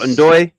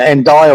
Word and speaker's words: Ndoye: But like I say, I've got Grealish and that is it Ndoye or Ndoye, whatever. Ndoye, I think it's pronounced. Yeah, I think Ndoye.